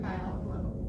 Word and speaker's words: Bialoglow: His last name is pronounced like biology.